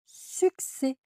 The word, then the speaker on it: succès: Donc ça fait le son X vacciner avec succès.